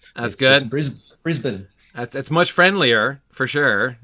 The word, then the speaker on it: Brisbane: uh in australia um tell me how you pronounce the name of that city brisbane brisbane there we go yep that's right there's no bain there's no there's no dane that we have to worry about that's good brisbane that's